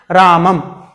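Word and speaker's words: रामं: हैं इस तरह से, राम लिखा होगा और उसके ऊपर एक बिंदी होगी, तो उसका जब हम उच्चारण करते हैं तो उसका उच्चारण हम करते हैं रामम।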